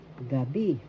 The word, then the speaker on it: gabi: Magandang gabi. First syllable ga, second syllable bi. The accent is in the second syllable. The accent is in the second syllable, gabi.